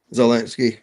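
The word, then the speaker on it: Zelensky: Ukraine or Z um how you say it, Zalinsky. Z uh Zalinski.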